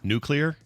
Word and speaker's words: nuclear: So I had to teach myself to say the two words, new and clear. So if you say those together, nuclear, you're good.